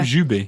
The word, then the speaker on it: jubé: Jubé. It's jubé. Yes. How do you spell that?